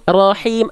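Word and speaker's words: رحيم: Him, Rahim, Ar-Rahmanir-Rahim. Rahim. Rahim. Rahim. Ya, bagus ditekan tapi jangan jadi ada tasdidnya. Rahim, enggak. Rahim. Rahim. Rahim. Rahim. Nah, itu udah bagus tapi terlalu ditekan. Jadinya kayak tasdid.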